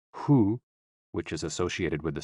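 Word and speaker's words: 呼: associated with the kidneys h o o pronounced like who which is associated with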